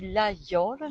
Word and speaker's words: Laguiole: Alors ça se dit l'Aïole, mais ça s'écrit L-A-G-U-I-O-L.